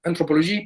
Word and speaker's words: anthropologie: Hay una nueva antropología, en algunos casos se va a hablar de entropología, en francés se pronuncia igual, anthropologie, pero el mismo chiste